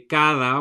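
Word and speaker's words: cada: um each in Spanish it is spelled with a d but it's not a hard D like we have in English it's a softer D that sounds a little bit like th in English so my kids will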